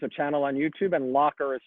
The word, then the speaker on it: Locher: room uh there's a channel on youtube and locker is spelled like my last name l-o-c-h-e-r not llc